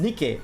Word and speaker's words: NIKKE: How is Nikkei supposed to be pronounced? Nikkei.